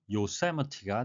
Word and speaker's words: Yosemite: 영어식 발음은 요세미티가 되겠습니다.